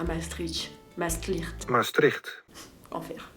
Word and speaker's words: Maastricht: dans les actuels Pays-Bas alors prononceer maastlicht Maastricht si vous voulez faire bien mais nous on a l'habitude de la prononcer à la française Maastrich Maastrich ça vous dit bien